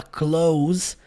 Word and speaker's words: close: palavra, a letra e, você pode pensar que é ela que tem o som. ali no final, close, close. Mas não, você sabia que essa palavra, a transcrição fonética dela, o som dela termina na letra Z?